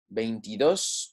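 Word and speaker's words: veintidós: and main piece ace there's an accent and that's because the word following the 20 or the 10 and is one syllable okay and that's because our stress wants to be on that last syllable right there bein tea dose painted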